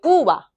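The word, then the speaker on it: Cuba: 제가 그럼 어떻게 발음했죠? 꾸바라고 안 했죠? 꾸바. 꾸바. 이렇게 하면 좀 있어 보여요. 좀 있어 보이지 않나요? 꾸바보다 꾸바. 좀 있어 보이지 않나요? 그래서 배는 항상 이 입술을 마주친 다음에 살짝 이야기를 하시면 항상 연습이 좀 필요해요.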